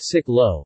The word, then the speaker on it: xích lô: Cycle rickshaws are known as zich lo, pronounced sik lo, from the French cyclo, in Vietnam.